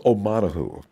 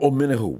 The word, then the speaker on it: Omenihu: And then there's Charles Omenihu. Or Omenihu, whichever way you want to pronounce that vowel.